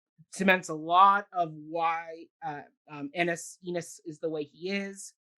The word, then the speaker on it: Ennis: It's Ennis. I think it's Ennis. I feel like they sung Ennis many times. I've always heard people with that name spelled that way pronounce it Ennis.